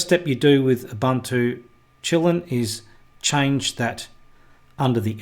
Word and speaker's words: Kylin: video we're going to be looking at ubuntu kylin now that's how most of us in the west pronounce that but um actually if you if